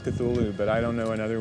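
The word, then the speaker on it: Cthulhu: wrongly uh and so finally in a letter of 1934 he tells a colleague well it's really meant to be two syllables uh you're supposed to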